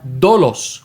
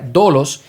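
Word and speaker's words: δόλος: Esta palabra se pronuncia dolos, un poquito más sencilla, dolos.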